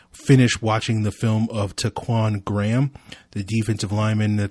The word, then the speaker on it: Ta'Quon: get your podcast so i've been calling him taekwon but apparently based off of the various pronunciation guides i have been able to find online it is actually taquan so i will try my best to correct